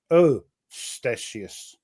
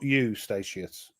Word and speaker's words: Eustatius: because I asked a Dutch person and it's pronounced oh staus not you staus that's all I'm going by you know the